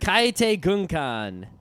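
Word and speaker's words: Kaitei Gunkan: Kaete Gunkan.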